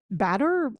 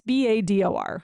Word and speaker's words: Bador: Okay, Jason, I don't want to pronounce it like Bador, but is it Bador? Batter? It's Bador.